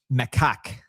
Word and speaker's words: macaque: The monkey is pronounced macaque.